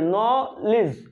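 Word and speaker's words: knowledge: আমরা সিলেবাল ভাঙ্গি যদি এখানে সিলেবালটা ভাগ করে নলিজ লিজ ন লিজ এই সিলেবাল দুইটা যদি দুইটাকে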